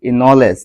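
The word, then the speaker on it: knowledge: যেমন প্রথমটি হচ্ছে কে এর পর এন থাকলে কে এর উচ্চারণ হয় না, এটি একটি নিয়ম।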